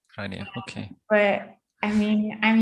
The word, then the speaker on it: Gráinne: It's like awe, like Is it Irish or? Yeah, it's an Irish name.